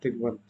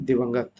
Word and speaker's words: दिवंगत: जिस पुरुष का स्वर्गवास हो गया हो उसे बोलते हैं दिग्वंत, ठीक है। दिग्वंत, सॉरी दिग्वंत कह रहा हूँ, दिवंगत, सॉरी प्रोनाउंसिएशन थोड़ी गलती है।